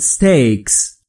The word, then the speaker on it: steak: ما در فارسی میگیم استیک اما تلفظ درستش در انگلیسی به این صورته. steak. steak ابتدای کلمه steak ا وجود نداره.